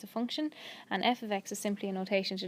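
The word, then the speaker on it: f(x): with f ofx therefore it's a function and F ofx is simply a notation to designate a function and it is pronounced F ofx the F names the function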